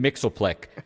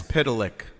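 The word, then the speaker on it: Mxyzptlk: You know, you said it's Dune Mixelplick. I would have gone, yes. Mix I know. it's Pitalik.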